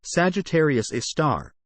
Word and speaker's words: Sagittarius A*: Sagittarius A, pronounced Sagittarius A star, and abbreviated as SGRA*,